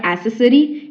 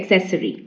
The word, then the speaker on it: accessory: accessory a accessory okay it's not accessory it's accessory okay the meaning is